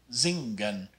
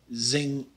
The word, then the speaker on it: zing: is in english except sometimes in english we pronounce an ng sound with kind of a hard g you might say this word zing but you don't want